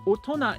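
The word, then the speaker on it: 大人: Now, some kanji don't really get their sound from the kanji. They get the meaning only from the kanji. So otona is one of those cases. It's weird to pronounce the first kanji oto, or sometimes o is okay, but the second one you wouldn't usually pronounce as tona matawa na. It's strange.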